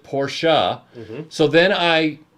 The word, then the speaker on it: Porsche: out he was like it's porsha portia and i'm like and it's jaguar yeah and i said okay and then i went and checked and the germans do pronounce it portia so then i pronounced